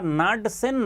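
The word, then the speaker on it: Knudsen: Known as नाडसन number, KNUD, यहाँ पे के प्रोनाउंसिएशन नहीं होगा, नाडसन नंबर, ये होता है आपका लैम्डा डिवाइड बाई L।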